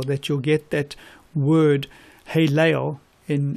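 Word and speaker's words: הֵילֵל: you'll get that word hey Leo in it sounds this is how you say it hey Leo it's not how you spell it in Hebrew and the Lucifer is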